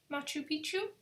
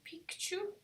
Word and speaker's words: Machu Picchu: all of it and there is Machu Picchu in Peru not you Pikachu Pikachu no Pichu I do know and